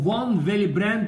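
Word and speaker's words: von Willebrand: فنص فاكتور 8 مهم الادهيجن اسمه فون فيليبراند، تنطقها الدبليو في لانه هولندي، فون فيليبراند فاكتور.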